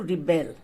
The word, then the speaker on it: rebel: The verb form of to rebel means to rise in opposition and is pronounced as to rebel.